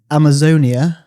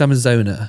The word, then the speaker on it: Amazona: Anyway, the fourth song is Amazonia. Is that how you say it? Amazonia? No, it's Amazona. Amazona. So Amazona. Which is a Roxy Music cover.